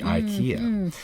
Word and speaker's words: IKEA: they did that but the actual correct pronunciation in Swedish is e ek a-- it's